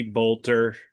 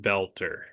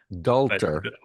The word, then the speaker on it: Boelter: Well, the first thing you should know, his last name is it looks like it's supposed to be Bolter, but he pronounces it belter. Like belt. Belter.